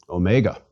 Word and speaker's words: Omega: repeat sigh and finally Omega Omega is big o mega o as opposed to micro or Omicron mega o is long like the O in open please repeat Omega o